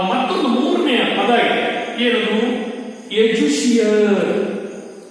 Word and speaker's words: educere: ಎಜುಷಿಯರ್. ಎಜುಷಿಯರ್ ಅಲ್ಲಿ ಒಂದೇ ಒಂದು ಸ್ಪೆಲ್ಲಿಂಗ್ ವ್ಯತ್ಯಾಸ ಆಗ್ತದೆ. ಏನದು ಸ್ಪೆಲ್ಲಿಂಗ್ ವ್ಯತ್ಯಾಸ ಅಂತ ಹೇಳಿದ್ರೆ EDUCERE. ಹಾಗಾಗಿ ಇದನ್ನ ಎಜುಷಿಯರ್ ಅಂತ ಹೇಳಿ ನಾವು ಉಚ್ಚಾರಣೆ ಮಾಡ್ತೇವೆ.